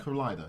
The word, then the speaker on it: Kaleida: Kaleida, yeah, Kaleida International. Okay, Kaleida International. Is that Japanese or just? No, it comes from a kaleidoscope, and I'll share how I came by the name.